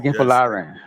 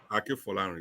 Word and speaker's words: Akinfolarin: Is that a pronunciation? Yes, Akinfolarin. Akinfolarin.